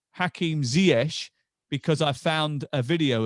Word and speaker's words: Ziyech: about your name and said it was ziesh am i right yeah sure yeah yeah so that's how you say it yeah that's how you